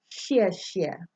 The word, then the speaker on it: xie xie: the beginning word for words like thank you xie xie okay it's always represented with an X but